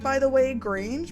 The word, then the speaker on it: Grange: By the way, Grange mud room GR, not grunge, obviously there's not a U there, but grunge. That just doesn't sound right to me.